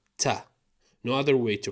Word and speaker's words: تاء: It's pronounced exactly like the letter T, Ta.